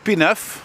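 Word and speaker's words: Pie-IX: Pineuf, which is a French word, just like Sherbrooke. Or maybe Sherbrooke isn't, but Pineuf is, and look at the way it's spelt, you see? With Roman numerals, no less.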